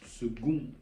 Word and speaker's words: second: c'est kundum en latin qui lui a évolué en prononciation pour se prononcer second avec un G à l'oral mais qui continue de s'écrire avec un C à l'écrit et donc là nous